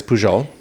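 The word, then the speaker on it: Pujol: kept calling it I did keep calling it pohole because technically that is how it would be pronounced um and but yeah I was corrected it is pool and um what do you eat at poho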